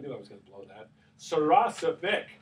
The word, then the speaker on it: Saracevic: Saracevic, right? That's the right pronunciation, right, Al?